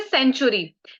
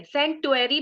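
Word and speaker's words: Centaury: ठीक है नेक्स्ट इ सेंचुरी सी एन टीयू ए आर वाय सेंचरी भी कई लोग बोलते बट आई प्रोनाउंस ट सेंचुरी सेंचुरी इ फॉर दोज पीपल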